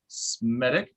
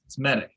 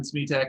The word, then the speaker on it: Smedick: I am here with Smedick. Yes. Smedick. Okay, it's always been Smetak in my mind, so that's what I'm always going to call it.